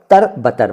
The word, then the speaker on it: तरबतर: इनका क्या अर्थ है पहले ये जानिए कि इनका शुद्ध उच्चारण क्या है। वैसे मैंने इतनी बार पढ़ दिया है, बोल दिया है इस वीडियो में कि आप समझ गए होंगे कि इनका उच्चारण है अब्र रहमत या अब्र रहमत और तरबतर।